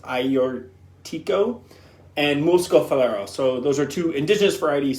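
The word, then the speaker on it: Agiorgitiko: Georgia Tico is how it's spelled but it's pronounced ior Tico and Moscow so those are two indigenous varieties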